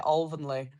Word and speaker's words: Alvanley: They say it Alvanley. Alvanley. To all the members, it's Alvanley Cricket Club. Yeah. This is the pronunciation.